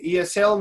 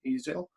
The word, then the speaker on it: easel: so that's the easel that's we don't say ESL mister no we don't say that's not the pronunciation the pronunciation is easel and is it is this thing that you